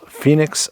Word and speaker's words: Fenix: This is the Sofirn, or I'm sorry, the Fenix, I believe they prefer it to be pronounced, Fenix CL28R.